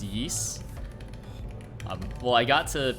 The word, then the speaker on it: Ys: recently i finished ys i keep saying ys it's it's pronounced yeast um well i got